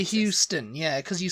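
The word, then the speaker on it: Euston: you say Houston yeah because you say Houston so it's just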